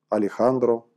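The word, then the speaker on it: Alejandro: оно произносится в испании правда испанцы пишут это слово через другую букву через букву фото но читают алехандру по-другому исходное слово вирус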